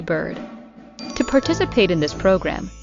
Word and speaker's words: Byrd: And of course, like I said, if you are listening or watching me, you can go to Bird on any social media platform. And I should spell that out cuz if you're not watching me